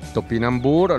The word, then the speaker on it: topinambur: che vedete in mano è il topinambur lo pronunciano la francese allora questo era conosciuto